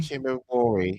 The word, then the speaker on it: Chihombori: Arikana Chihombori? Chihombori, yeah.